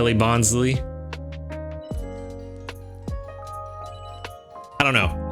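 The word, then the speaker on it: Bonsly: bonley I don't know I've always pronounced it bonley I've heard a lot of people recently saying bons kind of makes sense with the whole Sly nature of it with it being a fake tree but for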